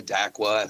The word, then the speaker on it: Dakwa: d d d d d d d dqua daqua, however you want to put it in there.